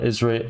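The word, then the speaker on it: Idris Elba: it and of course he's he's voiced by isra Ezra Elba Elba El I get right it's spelled ID RS but everyone always says isra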